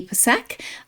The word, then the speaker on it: Psak: of her name and it is with the P pronounced not silent.